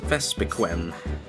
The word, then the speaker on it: Vespiquen: And apparently it's pronounced Vespiquen.